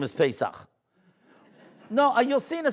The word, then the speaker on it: Pesach: You know, like, they can't say Pesach. No, the Goyim can't say the CH, right? That's why they call it Hanukkah. So, right? They can't say the CH, right?